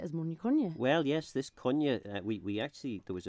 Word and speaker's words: Quinney: the the Manx surname Konya which looks as though it might be pronounced Quinny sadly a lot of